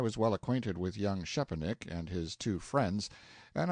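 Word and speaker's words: Szczepanik: Young Shepanick, note one, pronounced approximately Shepanick.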